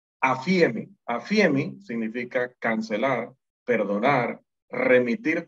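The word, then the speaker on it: ἀφίημι: El otro término es afiemi. Se pronuncia como poniendo el acento en la primera I. Afiemi.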